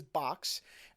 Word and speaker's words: Boox: the company that apparently you're supposed to pronounce as the word box even though it's spelled with two o's so the company name